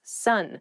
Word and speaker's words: son: male child is someone's son sun s-o-n is pronounced exactly the same as s-u-n sun what are you talking